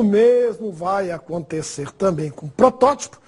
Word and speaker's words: protótipo: O mesmo vai acontecer também com protótipo. Você tem que pôr o acento no segundo O, porque ela é proparoxítona. Protótipo, sem acento, eu teria que ler prototipo.